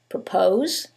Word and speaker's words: propose: However, in the first one, it's the second syllable that's stressed, and in the second one, it's the first syllable, and that changes the pronunciation completely.